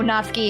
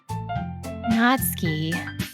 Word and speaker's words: Natsuki: that i've been saying natsuki natsuki natsuki yeah like you're not going skiing not ski ah that's got it